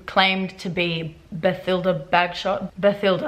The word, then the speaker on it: Bathilda: Bathilda, I guess is how you say the name. It wouldn't be Bathilda.